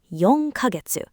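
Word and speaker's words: 四ヶ月: Yong kagetsu. That little c you sometimes see written small isn't pronounced k.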